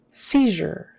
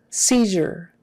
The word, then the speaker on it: seizure: your left seizure seizure e i is pronounced e in this case and the z is like a z h j j sound the u r e is er er seizure seizure as if it was spelled e r instead of